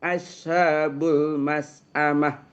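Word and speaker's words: أصحاب المشأمة: Asha jangan bukan asha bukan ya. Ashabul masamah. Masamah syin. Syin ya syin ya.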